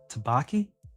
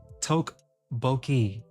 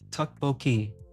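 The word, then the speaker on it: 떡볶이: I just looked up how to pronounce that last stream. Tabaki?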